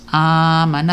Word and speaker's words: آمن: آمن So ang pagbabasa po niya is amana. So makikita po natin ay mahaba ang hamza. Okay, mahaba ang pagbigkas ng tinatawag na hamza na may fatha. Amana. So basically, 2 segundo lang po yan.